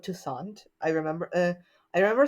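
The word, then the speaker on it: Toussaint: name a lot but remember it rhymes with croissant croissant tant uh so I don't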